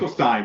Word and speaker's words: Finkelstein: That's the best way to reach out, and it's Finkelstein on that. I'm sorry, did I pronounce that? I think I pronounced it incorrectly. It's Finkelstein, but yeah, that's okay.